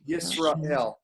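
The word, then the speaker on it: ישראל: You have the shva under the sin there, and you got one in the middle of the word. What usually happens? It's silent, just like it is there.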